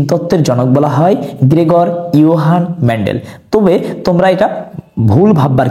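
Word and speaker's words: Johann: দেয়া ছিল যে গ্রেগর জোহান মেন্ডেল বন্ধুরা এটি আসলে ভুল বলা যাবে না কারণ ইংলিশের উচ্চারণে অনেকটা জোহানের মত হয় আবার যে এর উচ্চারণ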